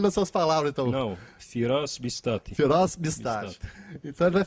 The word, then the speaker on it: Firas Bistati: Ortodoxa aqui na cidade de Anápolis, o padre Firas Bistati. A pronúncia está correta, padre? Primeiro isso. Está correta, certo. Então fale nas suas palavras, então. Não, Firas Bistati.